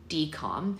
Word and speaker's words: DCOM: That conundrum begat the idea of the Disney Channel original movie, aka DCOM, pronounced D-COM, but it's spelled D-C-O-M.